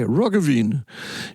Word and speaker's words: Roggeveen: So in 1722, there's a Dutch navigator, and his name is Jacob Roggeveen, okay? Roggeveen. You've got to say it like smoking a pancake or something like that. He's Dutch.